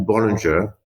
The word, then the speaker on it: Bollinger: For the workers, the people working for Bollinger say Bollinger.